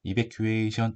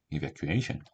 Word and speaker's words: evacuation: evacuation 이게 아니라 evacuation, evacuation, evacuation. 약간 이렇게 읽어야 돼요. evacuation 이렇게 읽어야지 맞습니다.